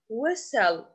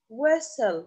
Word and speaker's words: whistle: we don't pronounce t whistle whistle we write T but we don't pronounce it pal pal we write